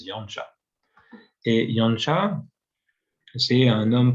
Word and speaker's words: Janša: des lettres slovènes, mais vous savez qu'en slovène, il y a des C et des S où il y a des accents à l'envers, un peu comme des accents circonflexes à l'envers, et on prononce ch, donc ça fait Janez Janša.